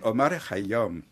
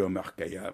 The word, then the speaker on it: Omar Khayyam: Faut-il prononcer à la persane ou à la française? Il vaut mieux dire à la persane. À la persane, c'est Omar Khayyam. En persan, on l'appelle Omar Khayyam.